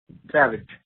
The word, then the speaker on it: Savage: you how do you say your last name Savage Nolan Savage cool man um I know you've